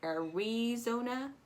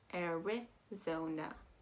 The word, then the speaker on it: Arizona: issue with that eye i hear a lot of people say are we zona um but you're gonna calm down that eye you're going to go eric zona arizona so now again with